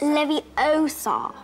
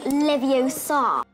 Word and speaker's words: Leviosa: saying it wrong it's Leviosa not Leviosa Hermione Granger you're saying it wrong it's Leviosa not Leviosa I know what that